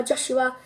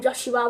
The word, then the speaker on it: Josh: forgot about clarence uh joshua is that everyone's constantly pronouncing his name joshua when actually it's josh and he's got this